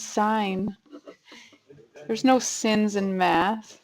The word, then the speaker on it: sine: one is a what it's not a sin it's sign there's no sins in